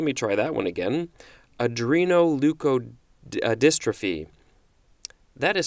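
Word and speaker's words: adrenoleukodystrophy: Adreno leukodystrophy let me try that one again Adreno leukodystrophy that is spelled ADR e n oh you K o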